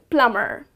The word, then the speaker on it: plumber: plumber' but it is plumber so here again the letter B is silent so the correct pronunciation